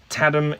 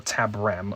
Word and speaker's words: Tabram: Tadam, yes, or Tabram. I keep getting her name wrong.